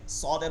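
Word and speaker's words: صاد: আমরা পরবর্তীতে যাই এরপরে সদের উচ্চারণ ঠিক আছে সদ সদ যখন উচ্চারণ হবে তখন এইখানেই হবে এটা ঠিক আছে যে জিহ্বার আগা এটা সদ সিঞ্জা তিনটার মাখরাজ এখানে জিহ্বার আগা সামনের নিচের সানা সুফলা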